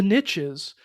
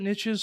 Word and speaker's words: niches: riches are in the niches. Um, and I have to pronounce it niches. Some people say niche, but then the phrase doesn't work.